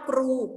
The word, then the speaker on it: ครู: ว่า ครู นะ คะ คำ นี้ อ่าน ว่า กรู korawit กรู นะ คะ